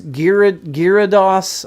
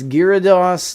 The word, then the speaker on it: Gyarados: So, it was Gir Gyados. I'm saying it wrong. I know. I know that I'm saying it wrong. Don't Don't come at me. It's Gyarados last night and Cubone today.